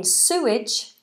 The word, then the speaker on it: sewage: so s Janna said but in suage it's Sue not so this is English you